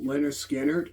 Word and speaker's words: Lynyrd Skynyrd: Um, so if anybody's familiar with the band Leonard Skinner, you probably heard the song uh Freeird, which came off their very first album pronounced Leonard Skannard.